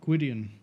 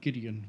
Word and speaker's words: Gideon: brother's boy Gideon that's that's not how you pronounce that you be gidan not Gideon but okay he's got